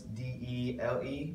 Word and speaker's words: Dele: And then because his name is spelled kind of cool, so it's D-E-L-E, but you say Dele Alli, and there's just no rhyme or reason for it.